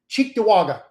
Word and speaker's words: Cheektowaga: It's an Indian name, so you probably wouldn't pronounce it well if you read it. Cheektowaga.